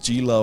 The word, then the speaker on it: Gila: you people fighting about the pronunciation of gila or hila I it's hila I liked one one